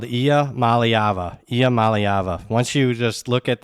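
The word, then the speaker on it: Iamaleava: believe it or not it's pronounced exactly how it's spelled IIA malava IA malava once you just look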